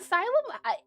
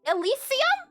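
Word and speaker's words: Elysium: That's not asylum. Elisium. Is that Is that how you say it? It looks like it would be said asylum.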